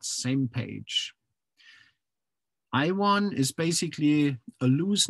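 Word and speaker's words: SMPAG: We pronounce that same page.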